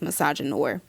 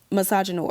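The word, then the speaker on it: misogynoir: And we experience a very unique and very specific branch of misogyny called I believe it's pronounced misogynor. Some people say no cuz it's like French, but anyway, misogynore.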